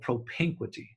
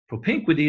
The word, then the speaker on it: propinquity: you create one is around a term called propinquity hope in 20 I'll spell it PR o p IM q you i t why propene quick t propinquity is the impact of nearness geographical psychological nearness